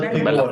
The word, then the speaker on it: bella figura: again, where people put on a good Bella Bella figura. figura. Bella okay, figura. I like that word, but I cannot pronounce it.